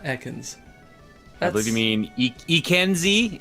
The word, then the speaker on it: Ekans: The announcer just pronounced that as Eakins. Eakins. I guess that's more like snake backward, but that's the first time anyone has ever said Eakins and not Ekans.